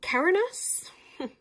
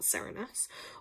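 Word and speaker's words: Cernunnos: So okay right so Kerinus it's pronounced not Sarinus also known as her is a Celtic stag god who represents connection to the earth.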